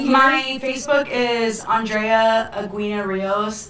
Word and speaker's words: Aguina: My Facebook is Andrea Aguina Rios. The U's silent though. Okay, well the U is silent, obviously.